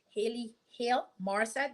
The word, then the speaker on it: Hale Morrissette: I am here with Hale Morrissette.